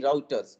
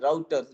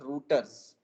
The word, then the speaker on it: routers: seeing these are basically routers again uh pronunciation is routers not rooters so please be careful in pronouncing it it is pronounced as